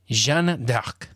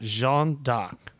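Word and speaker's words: Jeanne d'Arc: Oh, there's a YouTube video for it. Jean Dark. Oh, I like that. Jean Dark like like like Dark.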